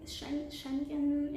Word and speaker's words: Schengen: around europe or more specifically in the schengen schengen area that's how you pronounce it so yeah make sure you get